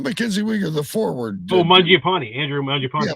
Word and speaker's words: Mangiapane: whatever that other guy is, I can never pronounce his name, starts with an M. Mackenzie Weegar? Not Mackenzie Weegar, the forward. Mangiapane, Andrew Mangiapane. Yeah, Mangiapane.